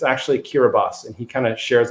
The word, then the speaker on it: Kiribati: talk about the island of kiribati um which is spelled kiribati and i've always thought of it as kirby it's this island in the middle of pacific but it's actually kiribati and he kind of shares a little story